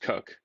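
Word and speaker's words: Edward Coke: This fella here, Edward Cook, even though his name looks like it's Cork, but for some reason, as is typical in England, it's pronounced Cook.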